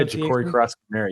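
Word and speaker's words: Jacory Croskey-Merritt: Let's see if I pronounce his name. Krosky Merritt. Is that correct? Yeah, Ja'Cory Krosky Merritt.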